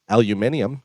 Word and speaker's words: aluminium: blanket us tariffs on steel and as they pronounce it over there aluminium are you are we we're doing that to